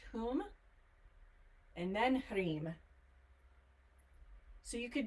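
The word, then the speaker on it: Hum: k r i m cream whom hu M pronounced whom and then so you could do it small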